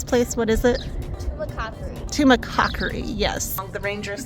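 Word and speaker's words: Tumacácori: one more National Park so we are at Tuma kakori I'm sure I'm pronouncing that wrong we learned how to actually pronounce the name of this place what is it tumac tumac Cocker yes the Rangers said it earlier and it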